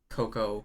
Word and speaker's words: cacao: stuff they were like you don't pronounce it creme de cote cacao it's creme de coco even though it was spelled cacao i don't know